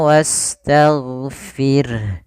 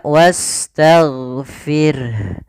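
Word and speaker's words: واستغفر: sini huruf Gin huruf huruf gainnya hati-hati jangan sampai memantul kesalahan yang terjadi memantulkan huruf gain Misalnya wastagfir wastagfirah ini memantul sering terjadi kita dengar dia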